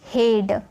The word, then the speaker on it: head: तो यहाँ पे आपको दिख रहा होगा EA, तो इसे A में प्रोनाउंस किए तो हो गया डेड। HEAD, हेड।